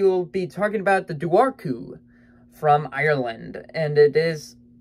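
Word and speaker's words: Dobhar-chú: c hu so I always thought it was dearu but it's daru which I think dearu sounds a lot scarier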